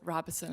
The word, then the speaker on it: Robison: Actually, Mr. Chair, I do pronounce it Robison.